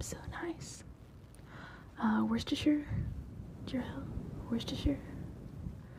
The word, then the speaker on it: Worcestershire: nice uh worcestershire girl worcestershire that's how we pronounce it here or sure per purine